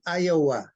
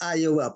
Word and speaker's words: Iowa: Oh, Provinsinya Iowa, bukan Iowa. Kadang-kadang ketikan itu kan seperti L gitu, padahal itu I. I itu mm-mm.